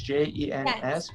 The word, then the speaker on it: Jens: It's an S at the end, so it's Jens. Pronounce it J like a Y.